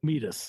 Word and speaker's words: Mebus: Medus is how it's pronounced, but Medus, I'm not.